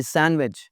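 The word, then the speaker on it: sandwich: लेकिन अभी सिर्फ ये रखें कि डी इसमें साइलेंट है, सैंडविच नहीं होता, सैंडविच।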